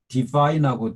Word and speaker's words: divine: 그리고 E도 I로 발음이 됐어요. knife. 네, 여기 이제 divine하고 divinity를 또 비교하면 그렇습니다.